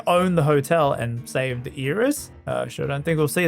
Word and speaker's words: Iris: Iris. It's like the Japanese pronunciation.